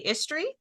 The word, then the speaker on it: Istre: Jeffrey, I'm going to say Istre. No, it's pronounced east, as in opposite of west.